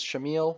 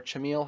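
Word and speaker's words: Chamille: Going along with that statement, number 14 is Shamil, or Chamil, however you want to pronounce it.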